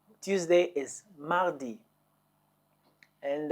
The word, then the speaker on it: mardi: Mardi. Tuesday is Mardi.